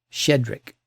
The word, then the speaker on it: Shchedryk: And if you tried to pronounce every consonant cluster, your tongue would file a complaint. But it's just shedric.